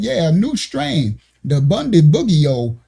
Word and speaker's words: Bundibugyo: It's Bundibugyo. They got a new strain of Ebola, Bundibugyo, Bundibugyo. I don't know how to say it. I say Bundy, like Ted Bundy, and Bug, like June Bug.